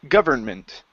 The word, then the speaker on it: government: yeah the stress is the stress is at the beginning government is pronounce uh